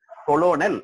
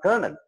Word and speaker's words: colonel: COLONEL கொலோனல் அப்படின்னு இருக்கும். ஆக்சுவலா அது கர்னல். கர்னல் அப்படிங்கிற வார்த்தையை கொலோனல் எழுதிருப்பாங்க. நீங்க எழுத்த வச்சுக்கிட்டு நீங்க ப்ரொனவுன்ஸ் பண்ணீங்கன்னா கொலோனல், அதெல்லாம் அந்த மாதிரி வார்த்தை இங்கிலீஷ்ல இல்ல. அது கர்னல் அப்படின்னு இருக்கு.